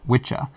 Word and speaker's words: wicca: first some basic terminology the word wicca derives from the old english word for witch or sorcerer which was probably pronounced witcha the term was adopted